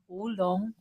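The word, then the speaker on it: Wo Long: Wulong.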